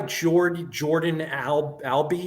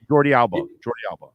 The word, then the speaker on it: Jordi Alba: So is the new guy Jordan Albee? Is that how you say it? Jordi Alba. Yes.